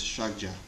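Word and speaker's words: ཕྱག་རྒྱ: The Tibetan word is shagja. Two syllables.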